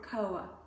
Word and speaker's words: koha: It's called KA and um it's spelled K O H A if you'd like to look it up.